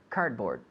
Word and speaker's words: cardboard: cardboard cardboard cardboard we the d Almost disappears The the D in the middle cardboard cardboard sorry cardboard good